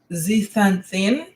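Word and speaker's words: zeaxanthin: You can also find a particular nutrient in um pistachios and it is called uh zithanthin. It's it's spelled z e a x a n t h i n e.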